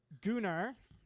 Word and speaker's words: Gunnar: I plan to spend the next couple of weeks birding around Peru with this gentleman whose name is Gunnar. Rhymes with lunar, as far as I can tell.